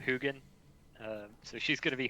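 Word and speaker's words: Huginn: is it Hugin or is it Huggin? It's Hugin Hugin.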